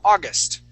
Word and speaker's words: August: So the accent is at the very beginning. August.